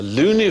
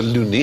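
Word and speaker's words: Looney: James and the professor loony it was unfortunate his name though believe it's pronounced Lily from Newcastle who wrote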